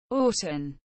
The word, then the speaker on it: Aughton: bed on route 69 Orton Orton pronounced was known as action